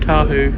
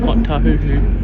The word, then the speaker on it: Ōtāhuhu: Bit of a Change here for Eastern Line trains and buses to Great South Ōtāhuhu, and it's Market. pronounced, not Ōtāhuhu.